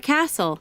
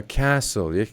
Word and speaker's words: castle: art gallery 16 a castle a castle is silent a museum a museum